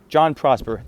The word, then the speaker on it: JonProsper: I just chopped off the Jin, spelled G-E-N, and made it John because it's pretty much pronounced the exact same way. And I took the last 3 letters of Prosper's and created Prosper. JonProsper.